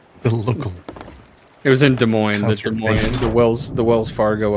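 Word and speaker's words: Des Moines: uh event Yeah, the local it was in De Moines the Wells the Wells Fargo Event Center in Desmos, Iowa. Um, that's how you say it. Desmos. Desmos. Yeah. Proper. Demo. Actually, it's French. It's pronounced Demo.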